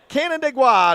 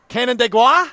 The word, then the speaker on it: Canandaigua: It's almost like Canada, but not quite. Canandaigua. Canandaigua.